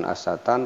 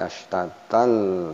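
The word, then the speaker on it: ashtatan: Kemudian ashta ini mad tabi'i, ta ini tanwin tapi berada tasdid sehingga dibacanya astatal, ya ini ada tasdid sehingga dibacanya bukan astatan tapi astatal, astatal masuk ke huruf lam.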